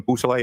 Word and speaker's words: Beausoleil: Could you say that name again and spell it for us? Yes, sir. It's Trooper Jason Bousselet.